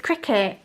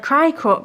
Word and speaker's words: Cricut: it it's so bad i know that it's cricket but my brain reads it like cry cut because let's be real that is how you would phonetically say that cricot yeah i just